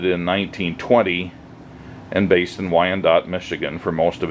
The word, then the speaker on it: Wyandotte: Uh, these are all made by a company called Wandot, which is spelled W Y A N D O T